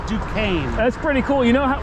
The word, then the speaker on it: Duquesne: Duquesne. Duquesne? Yeah, it's French. Okay, gotcha. It's not French to me, but it's Duquesne.